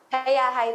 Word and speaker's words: Hayahay: Magandang Tama gabi po ba pronunciation ko? Hayahay, Hayahay? Hayahay po, tama po yun.